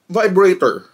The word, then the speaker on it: vibrato: to uh talk about and currently see um mispronounce or misuse word na vibrator instead of vibrato this is segment there's this